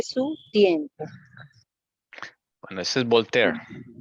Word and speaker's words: Voltaire: tiempo con eso es voltaire se pronuncia voltear Ok françois a objeto